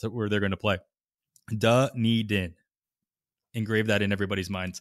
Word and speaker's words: Dunedin: Blue Jays lineup, even if they're playing in Dunedin. And yes, that is how you say Dunedin.